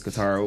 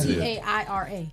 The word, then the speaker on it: Katara: It's Katara. I don't know why. Just say Tara. Taira. That's Yeah, why that's my Katara. name on Facebook. And I've said it, and I've been saying it right the whole show.